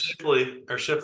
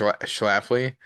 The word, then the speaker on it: Schlafly: Shifley, is that, did I say it right? I know I'm not from St. Louis. Sh sh Shifley sh Schlafly. Schlafly is Hmm.